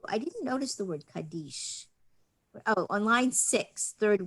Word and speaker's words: Kaddish: lot of jews say kaddish which is an maybe a european and ashkenazic way of saying the word kaddish but the um hebrew pronunciation in israel and in most synagogues is kadesh and it comes from